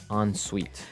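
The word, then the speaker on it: en suite: hyphen s UI T so even though it's e n we pronounce it like an o n yep on Suite so an onsite bathroom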